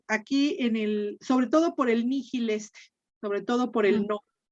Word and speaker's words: nihil: Nihil. Nihil. Bien, está bien. Generalmente cuando una H la tienes entre doble I, Miguel, puede tener una pronunciación aspirada. Nihil.